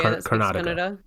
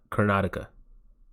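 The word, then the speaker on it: Karnataka: that's the area cartica that's how you say it yeah I've Miss pronounced that in many videos car yeah yeah yeah cartica you say it cartica at least that's the my T version of the in English accent version of saying it yeah yeah yep car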